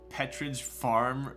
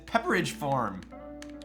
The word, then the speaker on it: Pepperidge Farm: Petridge Farm remembers. Did you just call it Petridge Farm? I'm almost fairly certain that's not how it's spelled. Is it really Petridge Farm? Petridge? It's Pepperidge Farm.